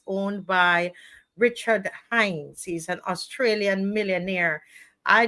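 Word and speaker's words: Hains: Not Hines, not Hines, not Hines, Hines, H-A-I-N-S, Hines. Spell it, please. We spell it wrong. H-A-I-N-S. H-A-I-N-S. Okay, H-A-I-N-S, guys. Hines, not Hines. There's an A missing.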